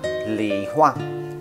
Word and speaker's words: 李花: Tiếng Trung Quốc đọc là lị hoa, tiếng Anh đọc là Japanese Plum Blossom, tiếng Latin là Furunus salicina và salicina.